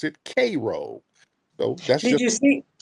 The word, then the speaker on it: Cairo: place in Illinois called Cairo Illinois but they pronounce it cro so that's did you see okay oh than